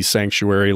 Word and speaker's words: Psanctuary: I imagine you got like a short explanation for anybody that's not familiar with Silent P Psanctuary, like Silent P Psilocybin, your church.